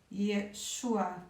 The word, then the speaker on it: Yeshua: nome de J era Yeshua naquela época a maioria das pessoas hoje enfatiza a primeira sílaba desse nome mas aí fazer deveria ser mesmo na segunda e chuá pelo jeito é claro